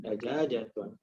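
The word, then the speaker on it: دجاجةٌ: Wa hadhihi dajajatun. Kenapa dibacanya tun? Karena tidak ada huruf jar sebelumnya. Jadi nggak jadi tin tapi tun.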